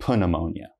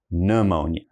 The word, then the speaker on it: pneumonia: But please, the help I can give you is don't say pneumonia, just say pneumonia.